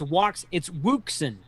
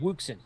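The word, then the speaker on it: Wouxun: It's Wuxen. That's the Texas way to say it, Wuxen.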